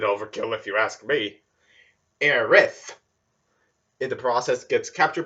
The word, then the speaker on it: Aerith: bumps into aerith sidenote there's often debates back then on how people are supposed to pronounce her name those being air s or areth for this since i played ambi in the remake first i'm calling her aerith anyways general finds avalanche